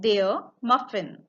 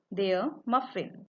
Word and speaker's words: Muffin: The word is same and pronunciation is also same. Der Muffin. Der Muffin.